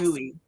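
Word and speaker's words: Boye: Is it, Lori wants to know, is it Buoy? Is that how you spell it? Yes. Buoy.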